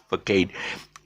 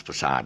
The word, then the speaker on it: facade: this this word actually a lot of people pronounce it is for kate it's actually the front of a of a building in front of a building and the front actually pronounces facade okay and even they